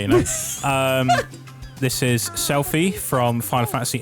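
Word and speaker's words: Selphie: Um, this is Selfie from Final Fantasy 8.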